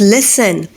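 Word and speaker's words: listen: है सोचना नेक्स्ट इस लिसन लिसन कहते हैं सुनने को लिसन सुना टी साइलेंट है तो हम पढ़ने हैं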